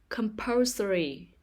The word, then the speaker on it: compulsory: syllable poem life life compulsory compulsory the stress is on the second syllable compulsory emotional emotional the